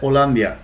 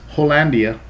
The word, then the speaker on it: Hollandia: know the place that Olia has in my heart and uh notice you guys might pronounce it as hollandia hollandia I don't know um but we call it by the Spanish pronunciation Olia because I am